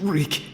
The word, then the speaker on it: Reek: I swear my name is Reek. It rhymes with leak.